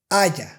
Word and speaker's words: haya: The correct way to pronounce these sounds is lluvia, ella, parrillada, haya.